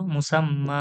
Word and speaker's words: মুসাম্মা: যে উচ্চারণ কি হবে? মুসাম্মা। হ্যাঁ, মুসাম্মা। এক আলিফ টান দিয়ে বলবো, মুসাম্মা। মুসাম্মা।